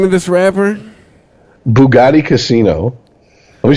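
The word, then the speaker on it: Boogotti Kasino: Bugatti Casino. Let me spell it for you. B-O-O-G-O-T-T-I. Yeah, I was going to say, is it racist if I ask you to spell it? K-A-S-I-N-O. Bugatti Casino.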